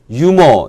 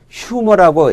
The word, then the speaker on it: humor: humor 놓습니다 우리가 흔히 이게 무구 만인가 그래서 유모 이렇게 발음 하기 쉬운데 무거움이 아닙니다 아 영어권에서는 휴 뭐라고 h 를 발음을 하죠 자 좀더 정확한 어원은